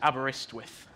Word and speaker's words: Aberystwyth: But the pronunciation is Aberystwyth.